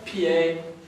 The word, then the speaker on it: pied: Pied. Le pied, on ne prononce pas le D.